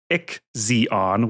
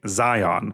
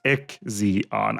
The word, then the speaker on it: IXION: So the game is Ick Zeon, which last week I was pronouncing Zion, which I still say Zion in my head.